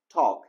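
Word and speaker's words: talk: لغت بعدی ما هست تاک تی ا در این لغت دوستای نازنینم حرف ال از نگاه کتابت زبان انگلیسی نوشته میشه اما تلفظ نمیشه درست است سایلنت و یا خاموش است در ای لغت تی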